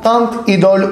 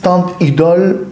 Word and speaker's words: Teint Idole: Esta es la lancom tant Idol Ultra cushion foundation Esa es la pronunciación en francés tant Idol Ultra creo más o